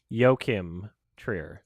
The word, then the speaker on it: Joachim Trier: the world review i searched up how to pronounce it and my finding was yokim trier yokim yeah i've heard